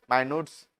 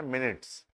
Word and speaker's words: minutes: Generally pronounced as मिनट्स, है ना। माइन्यूट्स तो बहुत कम ही लोग बोलते हैं, माइन्यूट्स वैसे एक्चुअल प्रोनाउंसिएशन है नहीं, एक्चुअल प्रोनाउंसिएशन है मिनट्स।